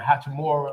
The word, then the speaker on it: Hachimura: How you pronounce his name? Hachimura.